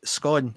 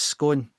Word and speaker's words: scone: You know, I always thought it was scone, and it isn't. It's scone.